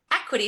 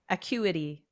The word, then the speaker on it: Acuity: you probably have too, equity scheduling. Yes. Changed my life. Isn't it? It is. I couldn't live without it. Yeah. We both use equity scheduling. Am I pronouncing it correctly? Acuity.